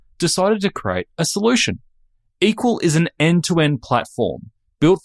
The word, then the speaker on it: EQL: My guest today is Andrew Lip, CEO and co-founder of Equal. That's EQL pronounced equal.